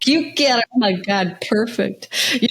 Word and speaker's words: Chiuchiarelli: So everybody knows it's not Q. It's not spelled with a Q. It's like Chiuchia. So Chiuchiarelli. So that Chiuchiarelli.